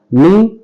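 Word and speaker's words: knee: नी, के N double E, नी पढ़ेंगे इसको, आप कनी नहीं पढ़ेंगे। इसमें के साइलेंट होता है, तो के एन डबल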